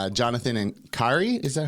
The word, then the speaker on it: Kari: Because I was like, it looks to me it could like be Karin or Karina, but I'm Well, I not mean, sure.